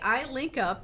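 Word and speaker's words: ILinCP: Okay, I-LinCP is the pronunciation of an acronym, I-LinCP, which stands for Institute for Leadership in Capital Projects.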